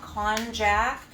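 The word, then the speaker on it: konjac: looks like but it is made from a con jack which is spelled konj ac it's a root vegetable which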